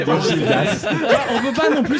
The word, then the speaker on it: Gildas: Et il dit on ne prononce pas le S final à Gildas par contre. Donc c'est Gilda. Non, mais moi je continue à dire Gildas.